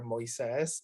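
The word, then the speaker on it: Moisés: it's like moses but it's like the spanish version of of moses you know i eat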